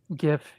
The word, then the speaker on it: GIF: little badge and in GIF GIF don't know how to pronounce that either well I I would I would say that we don't pronounce it J we pronounce it God so it's a gif and it's graphic go